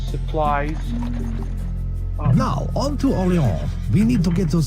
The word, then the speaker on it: Orléans: Orléans is up here. Nope, I'm making sure not to call it Orleans. Not that there's anything wrong with that, but that is not how it's pronounced in France.